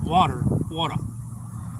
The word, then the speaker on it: water: Hey, at least you got all that slime out of the water. Right. Just like they call it water. Or water. Or quarter. Water. Well, I don't pronounce T in water. But D. Water.